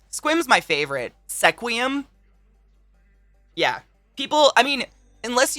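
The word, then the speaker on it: Sequim: Oh my god, Puyallup and Issaquah, or Squim. Squim's my favorite. Sequium.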